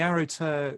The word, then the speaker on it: Aro gTer: you've become part of this arrow to is that how you pronounce it yeah so the arrow tur lineage um has a